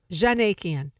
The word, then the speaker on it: Djanikian: If you just forget about the D. Djanikian.